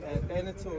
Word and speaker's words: Beneteau: How do you pronounce the name of this? Bojangles. Bojangles. And then the maker is Beneteau? Beneteau, yes.